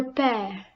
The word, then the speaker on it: père: This accent is used in letters E, A and U, but the pronunciation changes only when it is placed on the letter E, making the sound A. Look at the examples. Le père.